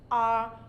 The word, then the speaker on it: hour: will now say that I left this place an hour ago because the H is not pronounced the H is not pronounced in all these four words so they attract the article